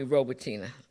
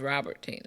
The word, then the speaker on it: Robertina: Parker and she said they call me robertina even know my name is pronounced robertina and said robertina does